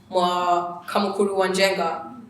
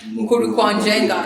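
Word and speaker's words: Mukuru kwa Njenga: They build trees in Kamukuru Wanjenga. Have I said it right? Mukuru Kwanjenga.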